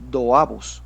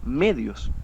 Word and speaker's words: medios: Cuando el denominador es dos, no se dice doabos, se dice medios.